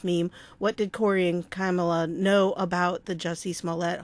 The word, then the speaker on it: Kamala: I want to say Kamala. It seems like that's how it should be pronounced, but it's Kamala, like a camel. Kamala.